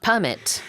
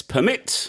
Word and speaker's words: permit: Well, first, will you permit me to talk about the pronunciation of permit? I will give you permission to talk Yes. about permit. If we use it as a verb, it's permit.